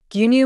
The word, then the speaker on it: 牛乳: Gyunyu means milk. Notice that it has stretched vowel sounds. Do not rush it. Say gyunyu. Even if the pronunciation is not perfect, the context inside a supermarket will help.